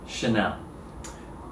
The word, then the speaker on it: Chanel: no h and just like hermes right ah chanel chanel chanel so i think if there is